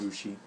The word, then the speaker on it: Ushi: who he calls um USI pronounced a ushi cuz it means like cow let going moo anyway